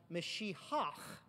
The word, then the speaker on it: Mashiach: That's exactly what Mashiach, you know you're saying it right when you spit. It's a guttural sound.